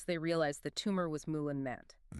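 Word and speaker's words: malignant: The opposite meaning cancerous is muolinet. The heavy emphasis hits right in the middle almost like the word itself is aggressive. The surgical team moved quickly once they realized the tumor was mulin met.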